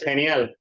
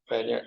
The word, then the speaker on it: genial: Like something that Es genial, genial, genial. Wow, that pronunciation really hard to me. Means like great, awesome. Like this. Oh, Genial. Kenya. Genial. Is that K? No, it's a G.